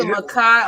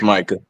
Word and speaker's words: Micah: Shout out to Makai on the panel. Is that how you say your name? Makai, is that how you say It's Micah. Micah.